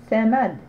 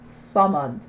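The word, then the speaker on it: صمد: C'est pas Samad, c'est Samad. Donc c'est la lettre Sad.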